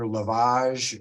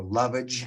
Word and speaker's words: lovage: It's pronounced either lavage or lovage.